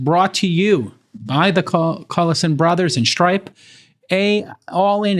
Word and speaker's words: Collison: We are, and you pronounce it Collison, obviously.